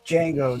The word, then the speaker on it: Django: It's Django. The D is silent.